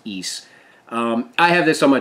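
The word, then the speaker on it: Ys: Yes, it's called East. It's Y-S, but it's pronounced East.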